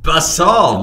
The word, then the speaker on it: basalt: eruptions it's known as a flood basalt event basalt that's how you pronounce it 250 million years ago an enormous